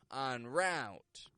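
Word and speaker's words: en route: sound for you here these are words that come into English from French and are spelled with the letters e n e n such as entrepreneur on treay oncore on rout ah on on now I'll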